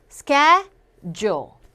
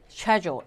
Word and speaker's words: schedule: 미국 영어에서 ch를 거의 K 발음하죠. 그래서 줄이 돼요. schedule. 근데 영국 영어에서는 이 발음을 갖다가 여기까지를 하나의 단어로 발음하죠. 그래서 쉐가 돼요. 쉐. 네, C 발음이 거의 탈락이 되면서 어떻게 발음돼요? schedule 이렇게 발음되죠.